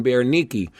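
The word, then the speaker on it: Berenice: And now you'll know something about him and we know something about who I pronounce wrong of course, but now I know it right. Queen Bear Nikki.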